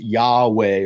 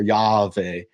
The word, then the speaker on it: Yahweh: not 100% certainty, but it was most likely pronounced Yahweh or Yahweh.